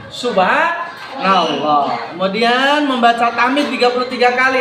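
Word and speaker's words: سبحان الله: Jangan dijadikan plesetan, bas, losban, nggak boleh. Bacanya bukan losban, subhanallah.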